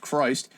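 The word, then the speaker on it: Kryst: the the wiki intro christ the conqueror pronounced christ was an american christian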